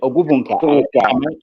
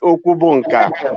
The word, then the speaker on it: Okubunka: Ogubunka, sorry, Ogubunka. Am I saying it right? That's America, New York way of pronouncing it. I'm so sorry, it's been a long time. Yeah. Yeah. Tell me how to pronounce it. I'll try to remember. It's pronounced Okubunka. Okubunka.